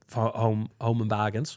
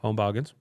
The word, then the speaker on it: Home Bargains: I just went to buy some medicine from the Home and Bargains. Home and bargain. Home Bargains.